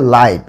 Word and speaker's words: live: অর্থাৎ আমরা যদি কোনো কিছু সরাসরি সম্প্রচার বোঝাই সেক্ষেত্রে লিভটা হয়ে যাবে লাইভ, কিন্তু এর বানান সবকিছু একই রকম, LIVE, এটাও LIVE। দুইটা শব্দের স্পেলিং কিন্তু সেম, কিন্তু উচ্চারণের ক্ষেত্রে এটা হবে লিভ আর এটা হবে লাইভ।